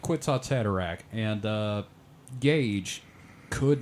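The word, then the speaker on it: Kwisatz Haderach: anyone out there uh if you cannot seem to pronounce quits hatak it's phonetically similar to nutsack cataract I kind of want you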